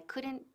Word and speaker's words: could: Evita pronunciar la L de could.